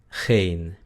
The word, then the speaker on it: geen: Luego tenemos la E larga, que es muy parecida a la E del español, es frontal y algunos holandeses la pronuncian ei, ei, pero el sonido real es e, e, ¿ok? Es frontal, como en las palabras been y geen, been, geen, been, geen, significa pierna y ninguno.